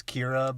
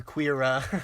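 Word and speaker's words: Qi'ra: It was Kira, but it was spelled with a Q-I-R-A. And I like Kira? calling her Queera.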